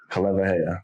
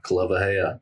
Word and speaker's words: Kaleiwahea: street names that have a W in it with a vowel on each side, just know it's pronounced as a V.